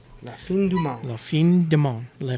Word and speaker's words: La Fin du Monde: As I put it in F-O-N for some reason on my spelling, even though it's spelled F-I-N. Yeah. La Fin, like when you see the end of a movie.